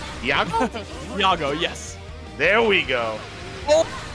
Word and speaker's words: Iago: uh how do I say his name Yago Yago yes there we go oh overhead going to